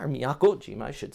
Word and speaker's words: Miyakojima: go ahead through friday morning you also got miyakejima or miyakojima i should say back here towards the west